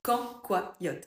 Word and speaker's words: cancoillotte: Quand, quoi, yotte. Quand, quoi, yotte. Alors, ok, l'orthographe est horrible, hein, ça ne s'écrit pas comme ça, on est bien d'accord.